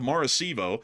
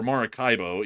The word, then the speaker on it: Maracaibo: and fire broke out at the port of Maracaibo, or Maracaibo, either way you want to pronounce it, in western Venezuela, which seems to